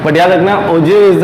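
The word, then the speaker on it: ogive: ठीक है, तो वंस अगेन ओजीव करके इसको प्रोनाउंस करना है.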